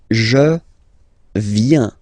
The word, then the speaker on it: viens: So the first form is je viens, je viens, okay? Remember this I, viens, and then this nasal, final S not pronounced, je viens, tu viens.